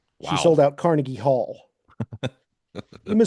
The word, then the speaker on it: Yma: Emma was criticized, and Emma is spelled YMA here, and sumac like like the like poison oak.